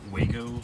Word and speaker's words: Wago: you, I absolutely love these lever nuts by Wago, that's how you say it.